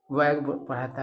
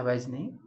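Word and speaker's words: wag: तो कह रहा है कि वैगिंग टेल वैग इसका उच्चारण होता है डब्ल्यू ए जी वैज वैग पढ़ा था वैज नहीं और इसका मतलब होता है हिलाना।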